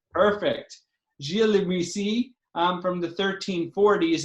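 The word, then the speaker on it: Gilles Li Muisis: historian, so Max will tell us how to pronounce the name of this person. I will do no such thing. Gilles Le Muissi. Perfect. Gilles Le Muissi, from the 1340s.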